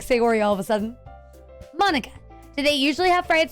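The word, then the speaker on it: Monika: Manika, that's not how you say my name at all.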